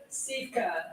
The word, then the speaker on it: Sivka: I say Svivka. With the 10th pick in the 2025 WNBA draft, the Chicago Sky select Aisha Sivka. Told you, Svivka. I just didn't pronounce it right.